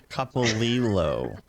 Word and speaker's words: Copolillo: Copolillo. It's Copolillo. the Italian, not the Spanish.